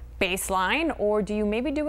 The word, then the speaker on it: Baseline: How do you pronounce this street name? Baseline, or do you maybe do it another way?